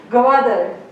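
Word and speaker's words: Gwadar: Yeah, it's an Urdu word, so yeah, it's not like pronounced correctly in English, but yeah, that's how it's pronounced.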